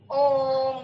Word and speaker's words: ओम: तो उसमें मतलब ओम हम लिखते हैं ना, ओम, तो 3 मात्रा तक, जो ओ को 3 मात्रा तक आगे बढ़ाने के बाद म का उच्चारण अगर हम करेंगे तो वह प्लुत स्वर कहलाया जाएगा।